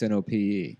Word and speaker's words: Knope: that's the boss that's right how about leslie knope but it's nope she's like i ain't coming to work today isn't that what it spelled like no it's knop oh i never read